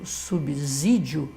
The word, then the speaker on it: subsídio: importante observar o seguinte pela regra gramatical é o s só pode ter som de z quando ele está entre o gás então ué é como se a pessoa que estivesse pronunciando subsídio ela estivesse vendo aí um rio depois do do b z é colocar aí o wii fica a regra normal nós até sabemos